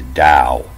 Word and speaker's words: Tao: and you'll see that the pronunciation of this tale is the dao and then on this